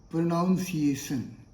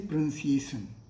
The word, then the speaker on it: pronunciation: Many of us say pronunciation. Pronunciation is incorrect. This is not the correct pronunciation. So what is correct? Correct is pronunciation. So in place of pronunciation, always say pronunciation.